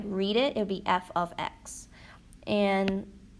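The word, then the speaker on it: f(x): pronounce it earlier, but that f with the parentheses and an x inside is read as f of x. So if you were trying to read it, it would be f of x.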